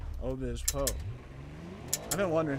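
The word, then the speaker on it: Obispo: Oh Bismo, dude, nice. Oh Bismo. Oh Bispo. Right. Oh Bispo.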